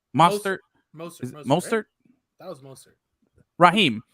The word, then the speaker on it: Mostert: Raheem Mostert. Mostert.